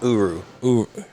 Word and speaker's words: Uru: dying star yes and the metal is called uru is that what you said yeah yeah you are you and then you pronounce the name of the hammer mill near